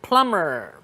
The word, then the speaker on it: plumber: water systems or pipes plumber remember the B is silent plumber this person also takes